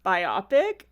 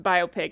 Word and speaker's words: biopic: let me just say if you've been pronouncing it biopic you're not alone there are out there I I think I learned only recently that it was pronounced biopic and of course as